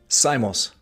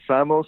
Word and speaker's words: Simos: honest um it's funny I have cousins in New York who pronounce it Samos but then my immediate family here in Florida says simos so I don't even